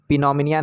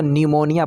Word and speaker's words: pneumonia: उसी तरह से PNEUMONIA, तो इसको पिनोमिनिया नहीं पढ़ेंगे, इसको न्यूमोनिया पढ़ते हैं।